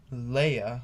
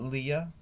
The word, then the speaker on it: Leia: him then princess leia leia remember not leah she they made her